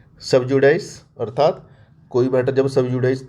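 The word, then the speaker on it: sub judice: के विचाराधीन होता है तो उसको बोलते हैं सबजुडाइस इसकी स्पेलिंग भी आप देख लीजिए सब और जे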